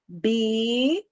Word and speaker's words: ambiental: Ambiental. A e som de U, que você está vendo um L, mas o que foi que eu disse?